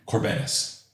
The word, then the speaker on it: Kourbanas: Kourbanas. Andrew Kourbanas. Kourbanas. Yeah. I mean, if you want to pronounce it that way, great. Isn't that how you really pronounce it, the Greek way?